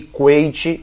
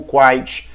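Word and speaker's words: Kuwait: guerra entre Iraque e corrente ou quaithe dependendo da pronúncia que você queira utilizar então em três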